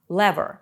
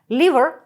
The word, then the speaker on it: lever: приклада нагадаю вам що у слова є дві вимови lever та lever liver кажуть в British English а lever частіше в American che Crest щока приклада